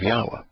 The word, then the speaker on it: Yahweh: The first one was named Yahweh Nathan, which is the gift of Yahweh. And it's Yahweh Nathan, so we get the proper pronunciation of the Wah in Yahweh's name.